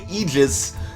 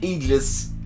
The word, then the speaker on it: Aegis: people pronounce that word that's not the technically correct pronunciation of the word but if you say egis people aren't going to know what the hell you're talking about about most of the time whereas if you say agis people are going to